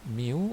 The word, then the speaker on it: mu: we use this symbol and we call it mu or you can just call it micro when